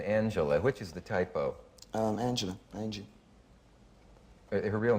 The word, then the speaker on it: Angela: Angela.